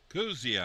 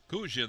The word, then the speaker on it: Kuzia: Kuzia, I believe is how you say it.